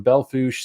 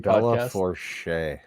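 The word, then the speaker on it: Belle Fourche: Lindskov Equipment Implement from Belfouche, South Dakota, Isabel and Mobridge, because they like to give. I'm not going to finish that. I think it's pronounced Bella Forche.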